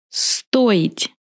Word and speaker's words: стоить: Стоить. Я стою. Ты стоишь. Он стоит. Мы стоим. Вы стоите. Они стоят. In this verb, I will pronounce O clearly because O is stressed.